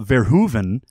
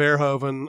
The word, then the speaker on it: Verhoeven: well I just want the opportunity to properly pronounce this directors name now that we've been corrected on Soundcloud on a comment paul verhoeven who came out with showgirls sorry I'm still gonna save air joven damn it Chris I'm saying they're hoping that's